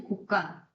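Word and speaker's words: 곳간: 이거 읽어봐. 고간이야, 곡간이야. 곡간이지, 곡간. 자, 얘도 마찬가지로 조건을 충족합니다. 고랑 간은 순우리말이에요. 자, 앞말이 모음으로 끝났고 뒷말이 된 소리가 났잖아.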